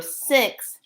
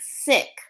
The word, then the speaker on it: six: shui or feng shui, the number six, when you say six, sounds like sick. Okay, SICK when it rhymes with SIT. I mean SIX.